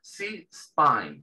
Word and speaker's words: C-spine: Y esto se pronuncia C-spine. ¿Por qué? Porque la letra C en inglés se pronuncia, cuando la pronunciamos sola, la letra C en inglés se pronuncia C.